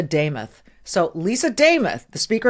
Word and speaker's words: Demuth: The first time I met her, she said, "Michelle, it rhymes. It sounds like Joe Nameoth." Lisa Damoth.